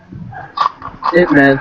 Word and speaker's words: Ip Man: Can you believe that for years I thought it was IP Man? Like, no shit, I thought it was like a fucking I movie. used to think that until I heard how it's actually pronounced. It's like Ip Man, right? Like, that's the real way to pronounce it.